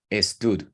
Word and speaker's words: stood: Entonces, cuando la pronunciamos, generalmente aquí metemos una E fantasma que no existe y decimos stood. ¿Sí? Entonces, para corregirnos en eso, simplemente enfatice o prolongue la S. Stood. Stood. Concientícese primero de pronunciar la S y luego pase a tud.